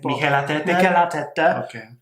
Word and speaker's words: Mikel Arteta: I forget how you pronounce his name. Mikel Arteta.